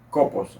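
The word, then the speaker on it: κόπος: palabra trabajo en griego se escribe copos con k copos así como se lee que significa esforzarse dolores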